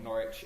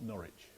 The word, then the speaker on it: Norwich: And um we prefer that the the city of Norwich is pronounced Norwich and not Norwich. Just so that you know what I always say is no itch in Norwich. It rhymes with porridge.